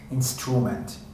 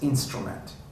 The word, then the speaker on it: instrument: That's the word instrument, which you said it, instrument. It's instrument, musical instruments.